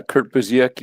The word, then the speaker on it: Busiek: How do you pronounce his name? Is that Yeah, Kurt Busiek.